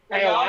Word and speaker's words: ayahuasca: Ayahuasca, is that how you say it?